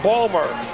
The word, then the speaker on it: Baltimore: He comes from Baltimore, as it's pronounced there, Balmer.